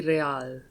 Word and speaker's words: Real: You owe me 130 real. Oh, fuck. Uh-oh. Uh-oh. What's real? Oh, excuse me, you owe me 130 real. He pronounces the R with a mock aristocratic accent.